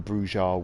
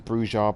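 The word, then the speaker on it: Brujah: a load of the Brujas with him. I use Brujas because that's the original pronunciation, but most people call them Bruja.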